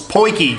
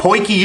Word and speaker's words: potjie: it in Jack Turtles poinky guys if you're wondering what a poiki is it's not spelled that way it's p-o-t-j-i-e I think it's the